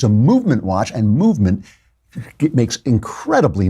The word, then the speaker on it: MVMT: They leave out the vowels. It's spelled MVMT, so you don't have to pay for all those expensive vowels.